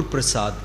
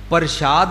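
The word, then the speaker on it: ਪ੍ਰਸਾਦ: बक्षिस द निशानी है गुर प्रसाद कने प्रशाद नहीं कहंदे ने गुर प्रसाद प्रसाद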